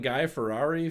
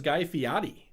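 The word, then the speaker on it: Guy Fieri: I've been saying Guy Ferrari for the longest time and uh it turns out that is Guy Fiotti.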